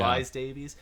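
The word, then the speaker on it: John Rhys-Davies: the thing is that after John Vr- John Vr- I can't pronounce it. John Rye Davies, is it? John Yeah, Rhys Davies.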